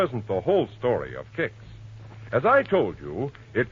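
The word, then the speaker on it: Kix: All right, ask your grosser for kicks tomorrow morning. That's spelled K I X.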